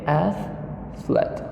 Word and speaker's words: athlete: Okay, athlete. We pronounce only 2 syllables.